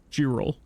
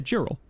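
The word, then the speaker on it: girolle: Girro. Okay. Girel. I was pronouncing him pretty much right or pretty much correctly. Um, yeah. Geral. Uh, I used to have a friend named Jerel. Uh, so it's kind of similar.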